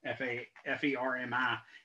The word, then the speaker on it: Fermi: And it's sort of the Fermi problems that your book talks about, the Fermi, F-E-R-M-I, should be pronounced Fermi instead of Fermi.